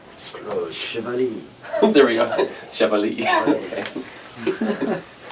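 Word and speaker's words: Chevalley: My typical English mispronunciation of this is, now you've said it right, I can't unthink it. I think I usually say Chevalier, or Chevalier. I don't know, it's wrong.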